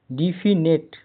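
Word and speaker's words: definite: डेफिनेट निश्चित पक्का स्पष्ट hospice hospice H ओ एस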